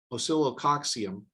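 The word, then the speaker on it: Oscillococcinum: started using it it was it's a um oscillococcium that's actually the proper pronunciation of silicoxium and that is or acillo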